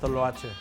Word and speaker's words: Toloache: You pronounce the name of this restaurant. It's your restaurant. It's called Toloache.